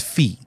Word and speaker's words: Fee: with lead singer fee Weill his name is fee uh how do you spell that F Fe fee yeah easily while he